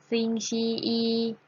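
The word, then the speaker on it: 星期一: จะ เอา เสียง ว่า สิ่ง ที่ อี อี ซิง ชี อี นัก เรียน เรา ออก เสียง สิ คะ มี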